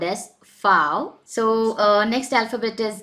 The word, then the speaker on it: V: Now V is actually called as fow. So next alphabet is W, which is pronounced as way.